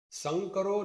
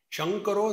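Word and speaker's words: सङ्करो: Like I told you, our Bengalis, they call sakar as shakar. Sa is pronounced as sha. In the first chapter of Gita, there is one shlok. Sankaro narakayaiva kulagnanam kulasya. Bengali. Shankaro narakayaiva.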